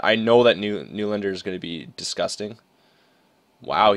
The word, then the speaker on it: Nylander: Like, I'd love to get Nylander again, or it's actually like pronounced Newlander. Newlander, that's how you say it.